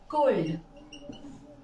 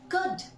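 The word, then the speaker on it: could: हम क्या बोलते हैं हम में से मैक्सिमम लोग इसे बोलते हैं कोल्ड बोलते हैं ना friends but actually this is कुड नॉट गुल्ड या फिर सिमिलरली अगर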